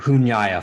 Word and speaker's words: Nyāya: very brief introduction to hunyaya philosophers are and um just in terms of pronunciation the it's the NY is like a Nia sound essentially so just sort